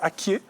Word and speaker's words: Akié: C'est vrai qu'on est très habitué à dire Atié. C'est pas la même chose? Ah non, c'est ce qu'on nous a dit, c'est pas la même chose. D'accord. La vraie prononciation, je pense que c'est Akié. Oui, en atié, c'est Akié. Oh, en Atié, c'est Akié. Oui. Mais sinon, on dit Atié.